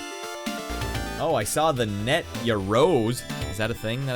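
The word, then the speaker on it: Yaroze: In March, Sony is releasing a new system called the ya rose, pronounced ya rose, for $750.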